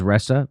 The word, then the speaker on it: Ressa: intercepts announcement of Resa her name is ressa by the way Marissa Resa I guess is how you say it her appointment to